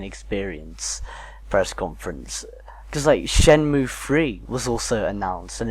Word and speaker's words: Shenmue: the project like kickoff yeah i mean like Shamu I think sorry i keep pronouncing I wash em you either necessary at your hyperness I right yeah i think it's Shenmue Shambhu yeah I think that's always but like